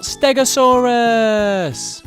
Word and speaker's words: Stegosaurus: Today we're going to learn all about Stegosaurus! How do you say that again? Ste-go-saur-us.